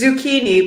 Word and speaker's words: zucchini: or tuzik anyways it's zucchini but we spell it the way that it's spelled in Italian so zu c CH ini and say zucchini good what is it